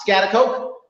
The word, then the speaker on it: Schaghticoke: are in if i say it right uh scatter coke i said it right yes we are here